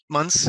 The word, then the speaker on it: Munce: let's get started so and the pronunciation of your last name months yeah there you go so thanks for agreeing